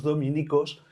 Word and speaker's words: dominicos: religiosa, que son los dominicos, pues tiene su origen también en este adjetivo. La pronunciación, pues en latín es esdrújula, en castellano ha quedado llana, dominicos, ¿verdad? Pero bueno, viene de aquí.